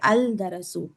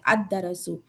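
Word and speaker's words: الدرس: बहुत सारे स्टूडेंट्स करते हैं अल दरसु नहीं करना इस तरह से अदरसु क्योंकि यहां पे तशदीद आ गया ना। तजदीद वाला लेटर आ गया है। तो इस वजह से हम लोग आके लाम को साइलेंट कर देंगे और डायरेक्टली अलीफ को दाल को मिला देंगे।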